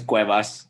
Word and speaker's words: Cuevas: the name of your company because i can't pronounce it so la cocina cuevas my last name is cuevas cuevas the kitchen so the kitchen of cuevas